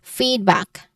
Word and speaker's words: feedback: So this the primary stress is on the fade or the first syllable. So you see it as feedback.